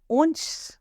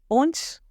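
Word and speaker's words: hanche: French में बोलते हैं ऊंच उंच यह बात ध्यान रखने की है फ्रेंच में एच इज साइलेंट ओके हेप का स्टार्ट होता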